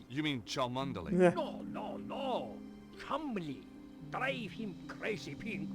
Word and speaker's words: Cholmondeley: My friend, Dudley Chumley. You mean Cholmondeley? Yeah. No. Chumley.